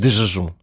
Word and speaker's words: desjejum: uma razão muito particular, porque nós lemos o S final das sílabas como um G ou como um X, e como a seguir temos um G, é estranho, é uma não é? mistura de sons muito parecidos.